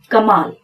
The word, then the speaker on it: कमाल: अब इसको कोई चाह कर भी कमल नहीं पढ़ सकता, अब ये है कमाल, और यही एक उच्चारण इसका होगा।